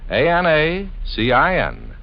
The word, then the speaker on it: Anacin: Just ask for Anacin at any drug counter. It's spelled A-N-A-C-I-N.